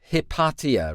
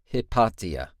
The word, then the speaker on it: Hypatia: And I think the pronunciation was Hypatia, right? That's what they're singing. Hypatia.